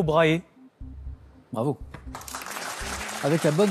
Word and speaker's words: Brahe: Tycho Brahe. Bravo. Avec la bonne prononciation et tout, et tout, et tout, hein. Le Tycho, ça s'écrit T-Y-C-H-O, ça se prononce Tycho, Brahe, B-R-A-H-E, Brahe, exactement.